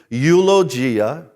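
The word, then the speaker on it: εὐλογία: eulogia eulogia now now as I say that Greek word and I am pronouncing it properly eulogia you should be hearing an English word because eulogy from that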